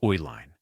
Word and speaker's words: Uihlein: In 1919, Joseph Uline senior created a chocolate division, producing candy under the brand name Elene, the phonetic pronunciation of Ooline.